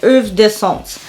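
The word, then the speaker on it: Heures d'Absence: The H is silent and the AB is silent in it as well. I'll drop what the spelling of the name is, but it's Hooves d'Absence.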